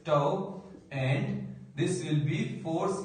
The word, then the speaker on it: tau: So here I write, this is the symbol of the torque, which we pronounce as tau, and this will be force into r sin theta.